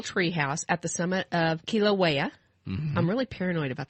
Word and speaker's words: Kilauea: Kilauea. Yeah, Kilauea. And that is probably the only Hawaiian word I'm going to pronounce correctly because most of them, I tried